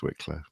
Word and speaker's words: Wicklow: But I'm pretty sure it's Wicklow, even though it's spelled W-I-C-H for some reason. Yeah, CH can be a k sound as well.